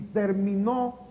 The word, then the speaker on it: terminó: ese ni en vocal y terminó lleva el acento en la última sílaba que es lo que